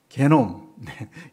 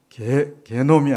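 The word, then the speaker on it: 게놈: DNA 집합체를 뭐라고 그랬죠 개놈 개놈이라고 그랬습니다 개놈이 아니고 개놈 이렇게 발음을 했는데요 우리 세포 한계 속에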